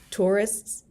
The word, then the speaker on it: tourists: So tourist or tourists, plural, a little difficult pronunciation sometimes because ISTS, tourists, or traveler, travelers.